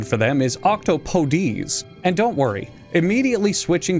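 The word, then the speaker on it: octopodes: name isn't Latin it's Greek technically the real pronunciation for them is octopodies and don't worry immediately switching to this pronunciation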